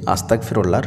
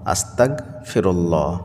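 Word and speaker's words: أستغفر الله: সঠিকভাবে উচ্চারণ করতে পারেন না আমি বলে দিচ্ছি আস্তাগফিরুল্লাহর সঠিক উচ্চারণ কি হবে আস্তাগফিরুল্লাহ আস্তাগফিরুল্লাহ এটাই হলো আস্তাগফিরুল্লাহর সঠিক উচ্চারণ আবারো বলছি আস্তাগফিরুল্লাহ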